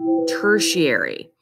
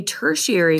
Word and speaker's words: tertiary: that herbivore this word means third it is pronounced tertiary tertiary a tertiary consumer is a carnivore at the topmost level